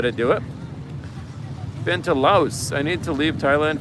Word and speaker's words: Laos: You You leave out the S.